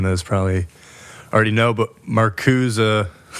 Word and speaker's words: Marcuse: probably already know but maruza uh that is how you say it how do people say it okay Marza maruza you can say maruse if you want yeah uh I'll just